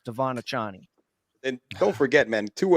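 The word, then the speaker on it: De'Von Achane: the sideline and then he doesn't want us to pronounce it Devon a chain anymore it's devonna Johnny and don't forget man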